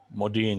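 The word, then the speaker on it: Modiin: And his club, which I believe we pronounce it Modin? Modin, yes.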